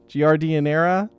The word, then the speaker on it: giardiniera: Is that how you pronounce that? Giardiniera?